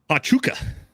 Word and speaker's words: Huachuca: Huachuca, that's how it's pronounced.